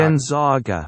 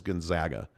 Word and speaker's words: Gonzaga: It's not Gonzaga. It's not Gonzaga. It's actually the proper pronunciation is Gonzaga.